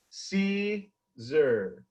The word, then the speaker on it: Siser: Joe.......That Siser Guy....: And that is how to properly pronounce Caesar. So say it with me. See zur.